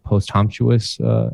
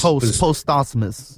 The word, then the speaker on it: posthumous: A year and a half after Circles, which is another post-humptuous album. Is that the right way to say that? Yeah, post-humptuous? Post-posthumous. Yeah.